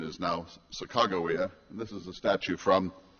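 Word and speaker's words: Sacagawea: and grandparents would have known that name as Sakajawia. Uh but the current pronunciation is now Sakawa.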